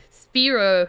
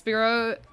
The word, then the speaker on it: Pierrot: I'm putting you through I have trouble pronouncing French words because I talk in the front of my mouth instead of the back its spit Oh like I don't know how to pronounce I should I should look it up before I open my fat mouth but it's Pierrot long distant oh you had